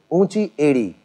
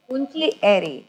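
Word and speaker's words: ऊँची एड़ी: Unchi edi. Unchi edi.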